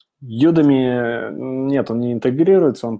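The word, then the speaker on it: Udemy: ми на самом деле я неправильно произношу Потому что надо говорить Юми Ну почему-то по-русски мне хочется произносить юдеми Но на самом деле Да правильно Юми Вот то есть есть ссылочка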